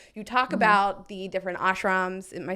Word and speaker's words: ashram: of it and you talk about the different ashrams am I saying the words yeah you said it was great that's great pronunciation good job reading uh hustle time and